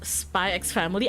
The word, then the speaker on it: Spy x Family: For me, for Hunter x Hunter, I don't say the X. I just say Hunter x Hunter. But for some reason, for Spy X Family, I say the X.